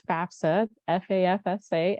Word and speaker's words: FAFSA: is the FAFSA um everybody always mispronounces the the acronym here and so it is FAFSA FAFSA and that first F